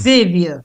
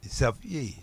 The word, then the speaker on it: Xavier: The person is giving it a French pronunciation, which is Xavier. You are giving it an English pronunciation. And by the way, it was originally French. Xavier.